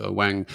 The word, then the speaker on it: Ng: so he suggested it's NG is pronounced Wang so he's the AI